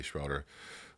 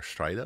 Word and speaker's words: Schroeder: schrader like ricky schroeder some people say schroeder i'm from a more like traditional mennonite community so it's more strider like the way they say it in plautd so that's the way i pronounce it i don't really care